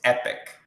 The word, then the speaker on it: Epoch: Uh, If it's EPOCH, it's Epic. then it's Last Epic, I guess, because that's exactly how it's spelled, and I had no idea, and I should have probably put it in Google before I looked like a I jackass on stream. I don't know why it's pronounced that, but I am 99% sure that you pronounce it Epic.